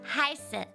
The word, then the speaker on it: heiße: It's the letter that looks like a B. It's a double S, basically. It's a special letter that we have, but you just pronounce it like a sharp S. So it's like ich heiße, like kind of like that, like ich heiße.